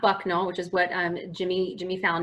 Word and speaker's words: Bucknell: Okay, so first up, Bucknell, so not Bucknell, which is what Jimmy Fallon mispronounced.